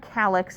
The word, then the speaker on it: calyx: The singular is called calyx and it's spelled C-A-L-Y-X.